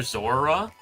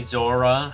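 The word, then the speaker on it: Zorua: Shiny Ditto and Shiny Zora, however you... Yeah, Zora is spelt Z-O-R-U-A, I believe. I think there's only one R, but everyone pronounces it like there two.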